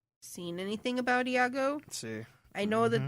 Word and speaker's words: Iago: Is Iago? Is that how you say it? The parasite? Iago? Yeah, Iago.